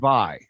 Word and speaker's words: Va-Hi: Oh yeah, like Hawaii.